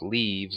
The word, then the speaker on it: leve: have like repeatable quests called leaves or leves depending on how you want to pronounce it I like to pronounce it leves and they are repeatable